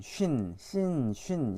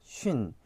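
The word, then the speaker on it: שׁין: 그래서 얘는 이제 쌍시옷에 발음이 나고 얘는 이제 SH 발음 있죠. 이제 쉬 발음. 그래서 그 발음이 난다고 보면 되겠습니다. 그래서 쉰 어차피 이 발음이 그대로 나는 거죠.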